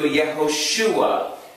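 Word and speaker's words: יהושע: means yah saves and the reason for the e is because because of the multiple syllables we have to use a shabbat underneath the letter u so it changes from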